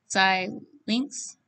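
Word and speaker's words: Xilinx: shown on here is called uh zai links which is the pronunciation i found online the silence board and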